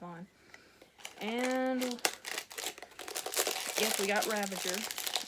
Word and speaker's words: Ravager: I'm trying to say her name correctly, I really am. It was years till I realized, wait, there's no N in that name. I've been saying it with an N this entire time.